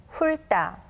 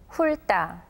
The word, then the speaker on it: 훑다: 할다, 할다, 훑다, 훑다. Notice that we can't hear the ti읕 sound, but the letter that comes after it is turned into a tension sound.